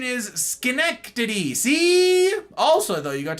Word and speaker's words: Schenectady: Literal pronunciation is Schenectady.